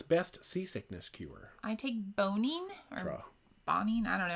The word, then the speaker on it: Bonine: I believe bonine. I Googled it, and apparently the makers call it bonine, so I'll continue to call it bonine.